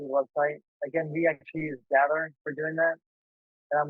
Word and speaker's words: Gathr: It's Gather, so it's spelled Gathr.